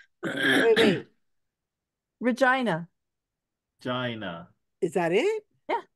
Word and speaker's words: Regina: it's called wait wait Regina Gina is that it yeah that's it RH rhymes with vagina yeah vagina it's spelled